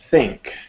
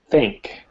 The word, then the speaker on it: think: replied replied jeff jeff think think okay so it's a th sound here right so we have to put our tongue between our teeth think think much better excellent though no same